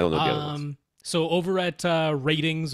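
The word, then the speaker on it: RTINGS: So over at ratings, which is how they say it, it's like R-tings, but over there.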